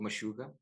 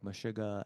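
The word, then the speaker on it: Meshuggah: Uh one of them is called Mashuga. Oh yeah. Yeah. Mashuga. I don't know how to pronounce it in English, but it's Mishuga.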